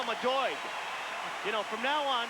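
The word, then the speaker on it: Doig: You say it like D O Y G, but it's Doy.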